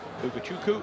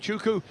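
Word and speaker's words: Ugochukwu: we were educated overnight that is a silent W so it takes a bit of getting used to having put the W in for years but uku is the driver on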